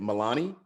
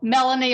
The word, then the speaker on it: Melanie: Is it Milani? No. How do you say it? I'm sorry. It's just Melanie or Mel.